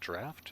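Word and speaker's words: draught: chocolate or Turbine Points drought is pronounced draft is that right all right so a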